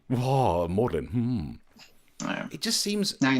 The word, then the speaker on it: Magdalen: What's that G doing in there? That is there so that working class people like me feel like we're not invited when posh people say, oh no, you don't sound the G.